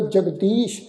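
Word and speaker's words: ਜਗਦੀਸ: जगदीश ससे दे पैर विच बिंदी लगा के पाठ उच्चारण करांगे जगदीश, जगत दा जो ईश्वर है, जगदीश जगत दा जिहड़ा मालक है।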